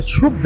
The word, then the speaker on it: शुद्ध: इनका कहना है कि ढोल गवाह शूद्र पशु नारी। शुद्र नहीं है, शुद्ध है वो। उसको गलत ये प्रोनाउंसिएट करते हैं, बोलते हैं कि भाई कचरा है।